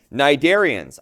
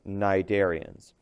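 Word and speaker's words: Cnidarians: Okay, nidarians. I know it starts with a c that c is silent. These are pronounced nidarians.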